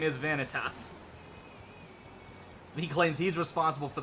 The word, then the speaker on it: Vanitas: that's that's the difference it's an extra syllable instead of Ventus it's vanitas Bailey they're like literally added an e that's like they literally added an e in the middle of making us to make it three syllables that's the only difference